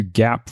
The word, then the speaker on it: GAAP: so let's dive into gap versus non-gaap earnings the first thing to understand is what does gaap mean gap is spelled g-a-a-p and it stands for